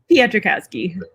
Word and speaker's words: Peitrkowski: Peitrkowski.